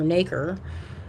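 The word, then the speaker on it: nacre: the outside is called it's spelled like acre with an n in front and and then they grow it around like a mother of pearl bead and the thicker the is or naker the thicker the better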